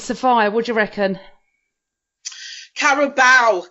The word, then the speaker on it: Carabao: Carabao Cup is what it's Carabao.